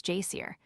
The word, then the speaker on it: geyser: The geyser, a word the Icelanders pronounce jier, and which signifies fury, rose majestically from its summit.